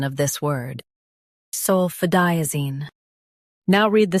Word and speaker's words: sulfadiazine: Sulfadiazine. Highlight di and keep zine soft.